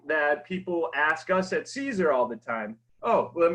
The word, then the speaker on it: Siser: So this is one question that people ask us at Siser all the time.